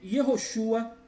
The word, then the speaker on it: Yehoshua: Asniv significa adeptos do nome Yehoshua e variantes.